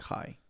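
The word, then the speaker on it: hej: example, hi is like hi, but it's spelled differently. How is it spelled? It's like H-E-J. How the fuck does a word that has a J pronounced high?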